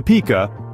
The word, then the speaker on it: pika: The Pika, pronounced Pika, is a relative of the rabbit, though you might mistake it for a rodent at first glance.